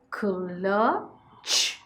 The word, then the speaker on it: clutch: K, u, clutch. Clutch. Okay. Short vowel ends with the ch sound, so we write the t, which is silent.